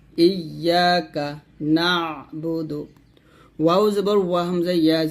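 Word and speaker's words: إِيَّاكَ نَعْبُدُ: ধরবে ইয়াকা ইয়াকা এরকম ইয়াকা নাবুদু। এখানে নাবুদু কিন্তু না, এই যে কমা মান হচ্ছে এখানে সাকিন মানে আইন উচ্চারণ হবে, নুন আইন যাব না এরকম ইয়াকা নাবুদু ওয়া ইয়াকা নাস্তাঈন ওয়া ইয়াকা নাস্তাঈন।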